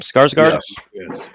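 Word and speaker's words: Skarsgård: go back we get introduced to uh alexander skarsgard is that how you pronounce his name skarsgard okay good i got it right so he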